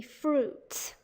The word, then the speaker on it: fruits: just can't do that so the i is silent and will all ways be silent so they sometimes say through it but it's supposed to be fruits okay now the seventh